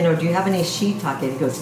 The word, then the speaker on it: shiitake: I said, you know, do you have any shiitake? He goes, it's shiitakes. And it's shiitake. But anyway, that's, you adapt the pronunciation of the culture that you live in,